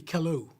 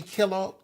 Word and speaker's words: Kellough: Would you say It's an Irish name. It's really Kellough. Kellough? Kellough. Yeah. Yeah. Kellough. So O-U-G-H. do people call you Kellogg? Some Oh, of them Kellough. try to pronounce the last Kellough. name. Kellough. I've been called all kind of names. Kellough. Kellough. But it's really Kellough.